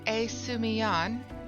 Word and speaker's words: Esumiyan: So, Brother Esumiyan, apparently that's how it's pronounced, I did not know that, bid you come to me to learn of the element of earth.